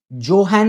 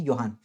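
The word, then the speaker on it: Johann: तो हमारे Gregor योहान, जोहान लिखा है लेकिन उसका करेक्ट प्रोनाउंसिएशन है योहान, ग्रेगोर योहान मेंडल।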